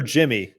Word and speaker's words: Yimi: Is it Yimmy or Jimmy? Jimmy. I don't know. They pronounce it kind of like a J. That's what he says it is.